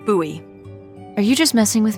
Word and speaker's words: Bowie: huge Rusty Bowie knife it's actually pronounced buoy what no it's like the last name like David Bowie different last name buoy are you just messing